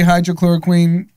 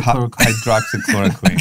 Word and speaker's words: hydroxychloroquine: right now and find doctors who still say hydrochloroquine how do you pronounce it you get better pronouncing that one drama how do you say it hydroxyl hydroxychloroquine yeah so i mean our friend brendan schaub